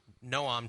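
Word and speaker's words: Noam: no yeah and it's it's not Nom Chomsky Noom Chomsky is his name to the he has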